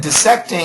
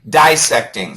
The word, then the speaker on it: dissecting: Uh, Daniel, you said dissecting. It's possible, but usually dissecting. scientist spent the day dissecting. Uh dissecting or dissecting? Yeah, I re I uh dissecting is much more common, so stick with that.